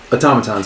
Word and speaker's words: automaton: Like, they make automatons. They make robots. Clockwork men. Or women. Or... That's cool. I'm going with that. How do you say it? Automaton. Automaton. Automaton. Think auto. automaton.